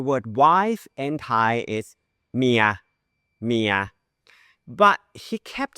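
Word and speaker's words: เมีย: And I was like, "Oh, it's your mia. It's your mia." Which rhymes with the word ear? It's one syllable, but he uses two syllable for that word.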